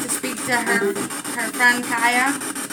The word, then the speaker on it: Chaya: Is Connie here still that would like to speak to her friend Kaya? I think it's pronounced Chaya though, isn't it? Princess Kaya, isn't your name pronounced like Chaya, like C-H-A-Y-A?